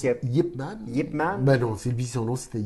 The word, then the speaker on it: Ip Man: ça se prononce Yip Man.